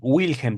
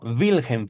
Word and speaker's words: Wilhelm: Recuerden que la W en alemán se pronuncia va o vi. Por eso no es Wilhelm, sino Wilhelm Fliess.